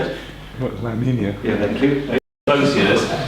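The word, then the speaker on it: La Niña: La Nina.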